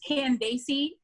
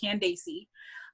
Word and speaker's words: Candace: media uh one is candacey toss now her name is spelled just candice most of us say candace but she pronounces it candacey um is that c-a-n-p-a-c-e